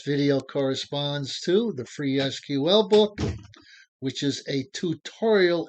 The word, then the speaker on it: SQL: me deal with pronunciation the proper pronunciation for SQL is just that three letters SQL stands for structured query language you might hear me and others refer to the language as SQL I will do excuse